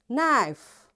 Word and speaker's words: knife: You see in all these words because K is there and right after K there is N. That's why this K is silent.